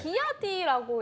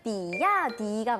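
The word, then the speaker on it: 比亚迪: 비아디라고 읽어야 하나요? 아니면 BYD 이렇게 맞아요. 읽어야 하나요? 이거 되게 헷갈리죠? 네. 사실은 비야디가 맞아요. 비야디.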